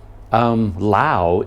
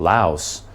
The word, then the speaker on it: Laos: research into it, and from what I read, Lao is the correct pronunciation. The S is supposed to be silent. So in fact, me saying Laos my whole life, that is actually incorrect.